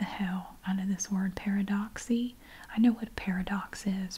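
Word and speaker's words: Paradoxe: her fantastic little commercial this is pronounced Paradox she said paradox paradox I'm going to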